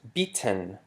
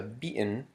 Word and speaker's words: beaten: You notice that it's not pronounced beaten. However, it changes to beaten, which we use the glottal stop, because it precedes a syllabic alveolar nasal, the n.